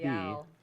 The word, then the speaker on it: Royale: so Isle Royal National Park, it has an E on the end. Yep. If you say Royale, you're like, okay, but in this case, you have to pronounce it Royale.